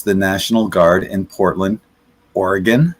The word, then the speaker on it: Oregon: get to use the National Guard in Portland, Oregon, not Oregon, right?